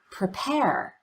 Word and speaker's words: prepare: The first syllable of the word prepare is the unstressed syllable. We cut the vowel, we rush through it as quickly as we can, even though the letter E is in the word as far as spelling.